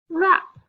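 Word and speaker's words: wrap: what's the word wrist w r w is silent what's the word rap okay this week our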